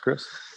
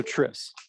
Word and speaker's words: Tris: Is it pronounced Chris? CH, not okay. K. Okay. Yeah. Good to meet you. So Tris. Okay. Tris. People call me Tris all the time. Okay, good. That's how it looks.